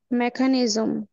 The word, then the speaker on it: mechanism: আচ্ছা, এখন আমি যদি বলি MECHANISM, এটা কি উচ্চারণ? মেকানিজম।